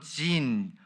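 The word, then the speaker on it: Zin: 신광야는 이제 바람광야 북쪽에 위치하고 있으며 개혁 개정판에서는 이제 신광야로만 되어 있는데 이게 영어 발음으로 지인 광야입니다.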